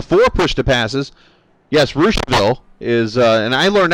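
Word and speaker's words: Russiaville: way i called it russianville the first time on radio and i had people calling me left and right and i'm like look it's spelled russia but it's pronounced rooshville and in rossville it's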